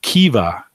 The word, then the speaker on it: Kiva: So Kiva, as he says how it's pronounced.